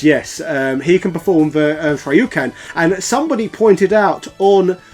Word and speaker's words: Shoryuken: Yeah, this is the part where you have to say that you don't pronounce anything correctly. It's Shoryuken.